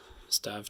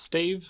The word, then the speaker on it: stave: about the process but let's move on to stav 2. i have just learned it's pronounced stave so i will be saying that from now on so this is starve 2 the ghost of christmas past and this